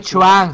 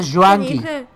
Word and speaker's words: Juanki: No es Chuan, se pronuncia Juanqui.